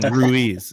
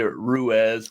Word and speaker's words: Ruiz: Some people say Ruiz, which there is, there's no E in my name. There's an I, so that wouldn't make a whole lot of sense.